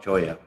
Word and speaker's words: Cholla: That in Spanish, the double L is pronounced ya. Yeah. And so that it's spelled chola, but it's pronounced choya.